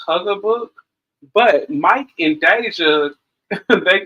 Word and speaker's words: Haugabook: yes Miss Deja I believe the name is pronounced Huger book but Mike and Deja they kind of you